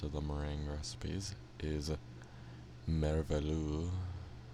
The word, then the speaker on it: merveilleux: Next up, I believe the last of the meringue recipes is merveilleux. It seems French, so I probably can't pronounce it as well as I would like to. But merveilleux, as I think it's pronounced, is meringue, heavy cream,